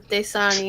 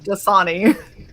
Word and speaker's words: Dasani: desani okay thank you i think i put the wrong and fastest on the wrong syllable how are you supposed to say it sunny dasani the song that's day you said day sani okay why y'all gotta